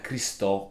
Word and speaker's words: Christo: per quanto riguarda invece il nome cristo è in verità il diminuitivo di christophe pronunciato alla francese diventa cristo quindi un nome con un suono molto simile rispetto a quello originale perché cristo è di